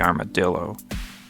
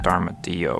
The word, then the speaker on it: armadillo: inter interesting option two the armadillo not pronounced armadio or anything right yeah whatever make